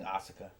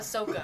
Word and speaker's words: Ahsoka: It's a shitty way of pronouncing Asuka. Oh, That's okay. not helping. What the fuck's Asuka? He's talking about Ahsoka.